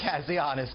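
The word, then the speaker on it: Kazianis: for National Interest Harry Kaz- uh can you pronounce it for me, sir? Kazzianus. Kazzianus.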